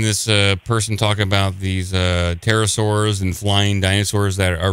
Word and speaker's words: pterosaur: But obviously, this is an extant pterosaur. And we have reasons. Pterosaur, my bad. I was calling him petrosaur, pronouncing the P, the silent P, big no-no in dinosaurology.